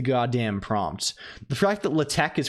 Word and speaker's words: LaTeX: I think you pronounce this the k in LaTeX, not like a K, but like a hiss. It's LaTeX.